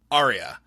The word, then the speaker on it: Arya: and be like um actually it's pronounced Arya um actually it's Ed